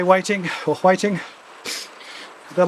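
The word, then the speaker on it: Hui Ting: But her name's Waiting. H U I T I N G which can be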